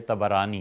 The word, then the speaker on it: طبرانی: یہ روایت آئی ہے طبرانی میں۔ طبرانی کا اصل تلفظ یہی ہے، طا پر بھی زبر ہے، با پر بھی زبر ہے، طبرانی۔ طبرانی رحمۃ اللہ علیہ